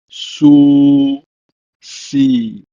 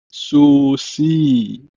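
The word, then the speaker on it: סוסי: For instance, in my horse, it's Su Si. Su Si. Stress on the last syllable.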